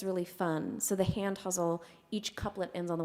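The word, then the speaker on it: ghazal: it's pretty versatile um is the huzzle some people say guzzle um that's pronounced or spelled g h a z a l it is an Arabic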